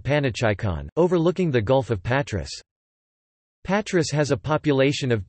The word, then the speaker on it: Πάτρα: Patras, Greek, Patra, Greek, Patra, Classical Greek and Kathorevisa, Patrai, place, Greek pronunciation, Patrai, Latin, Patrai, place, is Greece's third